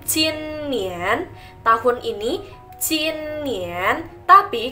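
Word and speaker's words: 今年: Lalu tahun ini kita bacanya jin nian.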